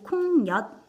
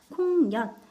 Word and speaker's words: 콩엿: 부분이에요 상록수 자 그리고 콩엿 자 콩력 같이 보자 콩엿 발음해 보면은 콩 엿 니은 첨가가 일어났죠 니은 천가면 마지막에 시옷